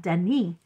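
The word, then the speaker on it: Denis: last letter for instance the street name here called Dennis they called Deni they it's de Den it's been that long since I said it they don't pronounce the last letter so that becomes a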